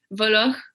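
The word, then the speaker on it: Voloj: famille, puis même lui, il n'est pas sûr comment le prononcer. C'est Julian Voloch. Ça s'écrit... c'est un Américain, ça s'écrit V-O-L-O-J. C'est un nom qui vient de l'Europe de l'Est, mais son grand-père a émigré en Amérique du Sud, puis là, il s'est prononcé à l'espagnol, maintenant.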